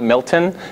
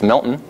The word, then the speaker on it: Milton: it as a Vermont thing so that's not Milton it's Milton that's not Vermont it's Vermont there's no like I don't ever pronounce the T at the end of Vermont